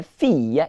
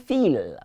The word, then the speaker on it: fille: The word here, fille, is not fille. Please, say fille. The I-L-L-E there is E.